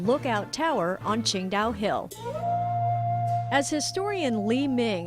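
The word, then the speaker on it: Tsingtao: build a brewery too while it's spelled differently it's pronounced the same way the city is pronounced Ching da the original Ching da Brewery has been completely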